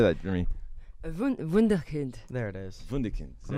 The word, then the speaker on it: Wunderkind: And I told Marie, I've called him a Wunderkid, so I can talk in German. gosh. He's a Wunderkid. I don't know if Wunderkid. How do you say that, Marie? Wunderkind.